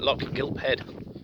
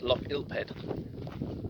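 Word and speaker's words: Lochgilphead: It's pronounced Gigha, so it seems that they don't pronounce any of the G's following the first letter. So, yeah, like I kept on calling it Loch Gilphead. It's not, it's Loch Gilphead.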